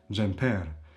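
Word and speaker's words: xhemper: And jere is also stressed on the last syllable jeer jere. But if you say the jumper the sweater, it becomes jeeri. Jeeri.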